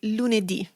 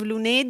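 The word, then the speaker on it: lunedì: And you'll notice also from the pronunciation and the written form that most days of the week end with an accented I.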